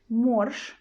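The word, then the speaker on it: морж: give you an example in the word morsh morse we've got je in the end but we pronounce it as a sh as a voice last sound sh so again here you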